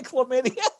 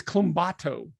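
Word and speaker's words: Colombatto: You're going to say chlamydia. It's close. It's Clumbato.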